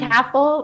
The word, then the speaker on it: Kafel: It's Caffel, rhymes with Caffel. raffle, because I feel lucky to be here.